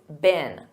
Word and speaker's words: been: And notice that pronunciation. In American English, it's been.